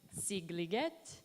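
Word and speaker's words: Szigliget: I cannot pronounce the title, but the setting of the work is his summer home in this town pronounced Székliget. Sigliget, thank you.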